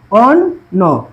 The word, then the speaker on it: অন্য: দেখো এই যে অন্য, নয়ের পরে কি আছে, জফলা, তাহলে অ ধ্বনি উচ্চারণ কি হবে, ও বা ওকারের মতো, তাহলে ও, ও দিলাম, ও, ন হচ্ছে মূল বর্ণ অন, আর ওই যে বললাম ওকারের মতো অন্য, অন্য।